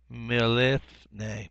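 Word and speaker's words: מִלִּפְנֵי: Because you got the doubling of the lamed here, mil, and then another lamed start another syllable with le, with the non-vocal shavah under this pe, and then ne means your last one.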